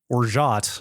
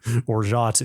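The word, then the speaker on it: orgeat: purchased the bag to make orat I believe is how you say that o r g e a t I would call that Orit is is the spelling there orat is the pronunciation that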